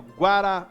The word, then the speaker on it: guaraná: palavra bom então aí o guaraná o guaraná a última sílaba é a tônica porque ela é mais forte cinema Honey a sílaba